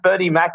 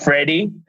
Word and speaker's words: Ferdi Mak: There is only one Ferdie Mack on LinkedIn, providing you spell my name correctly. If you spell it F-R-E-D-I, you're probably not going to find me. Not Freddie. So F-E-R-D-I-M-A-K, 2 words.